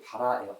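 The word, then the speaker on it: ברא: 창조하다라는 말의 이 히브리어 원어는 발음이 바라예요. 바라.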